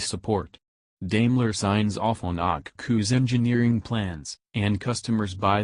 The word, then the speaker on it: Okcu: Today Akku, pronounced Akku, outfits boats, private aircraft and vans, either a Mercedes-Benz Sprinter or V-Class, Metris in the United States.